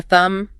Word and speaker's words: thumb: You've got your fingers, the thumb, silent B, index finger for pointing, middle finger, the rude one, ring finger for rings, and the little pinky.